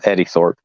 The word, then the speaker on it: Eddie Thorpe: It's Eddie Thorpe.